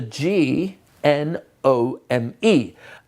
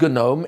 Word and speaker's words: gnome: is spelt with a G, N-O-M-E. And it's not pronounced gnome, it's pronounced gnome. And since you don't hear the G, and this is a